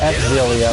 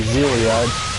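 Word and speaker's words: Xillia: for was zilia one course some people pronounce it X zilia which is actually zilia that's how I pronounce it anyway many of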